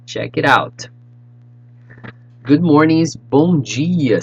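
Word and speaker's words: bom dia: expressions for you check it out good mornings bonji you say with me bon gia boa tagi let's go one more time check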